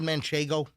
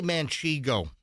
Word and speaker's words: manchego: Have you ever had manchego? Mano. How do you How do you pronounce the damn thing. I'm I'm pretty good at pronunciations usually. I say maniggo.